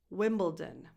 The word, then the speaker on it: Wimbledon: And this is pronounced Wimbledon.